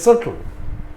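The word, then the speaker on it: subtle: শিখবে এগুলো ইম্পর্টেন্ট শব্দ এস ইউ বি টি এল ই এই বিটা উচ্চারণ হয় না এটা হয়ে যায় সটল সাটল মানে হলো সূক্ষ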